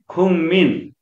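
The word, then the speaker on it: 국민: अनि खुङमिन, खुङमिन भनेको नागरिक, यहाँ पनि गरम सँगै ठोकिएको छ, त्यसले गर्दा गको उच्चारण न गरियो र म त म नै छँदैछ, त्यस कारणले खुङमिन, खुङमिन भनेको नागरिक।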